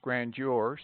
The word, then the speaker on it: grandeur: Pronounce grandeur, soldier, verdure, and some other words with D pronounced as J.